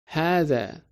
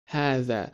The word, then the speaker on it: هذا: You may have noticed that the word Haza is not written exactly the same way that we pronounce it. Can you guess what it is? Haza. Haza. The vowel sound after ha is longer, isn't it? Haza. So there's a hidden alif after ha, which is typically dropped in writing for brevity.